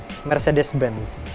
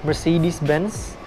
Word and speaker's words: Mercedes-Benz: Dan yang terakhir adalah Mercedes-Benz. Kalau misalnya orang Inggris atau orang Amerika bilangnya Mercedes-Benz, sebenarnya pelafalan yang benar itu adalah Mercedes-Benz. Dan sebagian besar orang Indonesia sudah melafalkan Mercedes-Benz sebagai Mercedes-Benz atau Mercy, kita sering sebutnya.